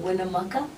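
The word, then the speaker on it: Winnemucca: stop last night in wiam Maka yeah that's how you say it and um we just came this morning yeah from W Maka and how long have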